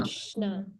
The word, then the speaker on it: Krishna: Only Kri. Because the syllable should end with a vowel. Ri is a vowel. Right? And then what is the next one? Shna. Krishna.